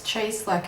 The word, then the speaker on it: Cieslak: This is the Rift Tee by Jacqueline, I think it's Cieslak or Cieslak. She has a really good video actually with Christy Glass, an interview that she did with Christy Glass, and she actually pronounces her name. I meant to watch it to listen to it. I'm pretty sure it's Cieslak actually, now that I say it. But anyway, this is the Rift Tee.